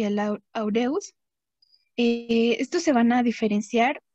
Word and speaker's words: aureus: Ok, ya nada más, el aureus se pronuncia con el acento en la A, de aureus, y el saprophyticus, aquí